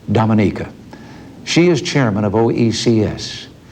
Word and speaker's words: Dominica: Prime Minister Eugenia Charles of Dominica. I call that wrong. She pronounces it Dominica.